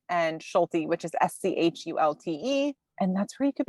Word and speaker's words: Schulte: We'll get the spelling incorrect, but it's is my first name, and Schulte, which is Schulte.